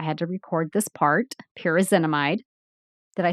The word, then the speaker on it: pyrazinamide: You should have seen how many times I had to record this part, pyrazinamide.